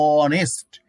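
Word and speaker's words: honest: অ, এখানে দেখো এইচ থাকা সত্ত্বেও কিন্তু ভাওয়েলের সাউন্ড হচ্ছে অ, অর্থাৎ ওর মতো উচ্চারণ হচ্ছে অনেস্ট, এখানে অ্যান হবে।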